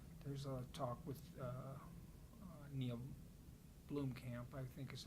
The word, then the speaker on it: Blomkamp: you know, hopefully there's a talk with Neil Blomkamp, I think is how you pronounce his last name.